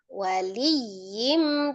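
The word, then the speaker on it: ولي: lilillah wam yudlilillahu fama lahu min waliy mim ba'di min waliyim waliyyim tuh ada nabarnya ya tasdidnya min waliyim mim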